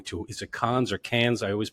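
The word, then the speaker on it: Cannes: is it cons or cans I always pronounce it wrong it depends on how French you want to pretend to be it's I think the official pronunciation is can can and I know you're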